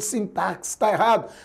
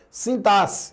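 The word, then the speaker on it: sintaxe: Então a letra X aqui, por exemplo, ela tem som de C. É sintar C. Muito embora você vai dizer: "Mas Jonas, eu escuto o pessoal pronunciando sintarx." Não, ninguém fala errado. Então, mais à frente a gente vai discutir isso. É um preconceito linguístico, mas a pronúncia correta, adequada ao padrão culto é sintasse, então não entrou mais um.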